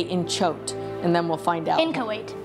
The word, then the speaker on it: inchoate: Okay, I'm gonna say inchoate, and then we'll find out.